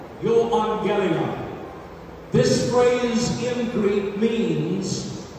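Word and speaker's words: εὐαγγέλιον: I think that most of you know that the New Testament was written in Greek originally, and in the Greek, the words "the gospel" is pronounced euangelion, euangelion.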